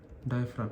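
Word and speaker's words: diaphragm: डायफ्राम। इसमें ये जी silent है।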